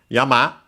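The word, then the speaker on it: 山: particle and then yama yama should be accented on the last one but of course we'll back.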